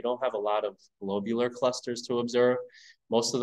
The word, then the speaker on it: globular: And I really emphasize the pronunciation because it's not a globular cluster. It's not a glob shape, although it is a glob. It's a globular cluster. I've been pronouncing it wrong all these years.